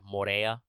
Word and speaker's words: Moria: on being despot of Moria which I should probably pronounce a little bit more like Mora so you don't get confused but it it's spelled that way but in particular uh